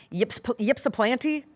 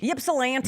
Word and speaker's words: Ypsilanti: The Redhawks, 28-0 after a win in Ypsilanti. I never know how to pronounce it. Ypsilanti.